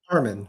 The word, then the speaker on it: Arman: Arman is how I pronounce it.